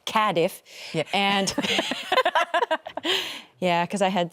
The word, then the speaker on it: Cardiff: We started in Okay, they they taught me how to say this properly. Cadiff.